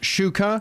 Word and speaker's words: Shuker: And he confirmed that generally it's pronounced Shuker. Yep. However, it gets pronounced both ways. But the other way is wrong.